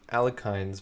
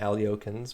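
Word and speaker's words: Alekhine: for going to the alkynes variation I'm not saying ali-okins because I don't think that's the right way to pronounce it you're an elitist if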